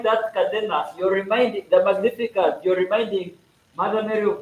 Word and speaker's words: Magnificat: Anyway, it's not called the Magnificat, it's called the Magnificat. When you pronounce it, you don't pronounce the G.